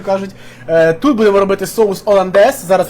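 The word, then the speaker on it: hollandaise: лендес це голландський соус тому що французькій мові перша буква аж не читається це може виходить оландес тому сьогодні я готую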